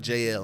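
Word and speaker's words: Jaelle: a little bit unique it's JL and so it's spelled out j a e l l e you know but a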